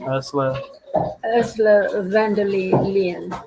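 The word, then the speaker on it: Ursula von der Leyen: Ursula van der Leyen.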